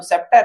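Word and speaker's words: scepter: लेकिन यहाँ क्या है, सी साइलेंट हो गया तो सेप्टर है।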